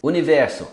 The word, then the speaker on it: univers: Universo, univers. Não pronuncia o S.